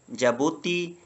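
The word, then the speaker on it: Djibouti: 48 पे जो कंट्री है जबुती इसका कैपिटल सिटी भी जबती है। यहां पे डी साइलेंट है।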